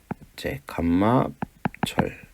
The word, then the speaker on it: 감마: 설명을 드렸구요 보통 오스트리아나이트는 감마철 감마철이라고 합니다 이곳에서 감마라고 읽어요 감마 그리스어 단어입니다 알처럼 생겼지만 이렇게 생긴게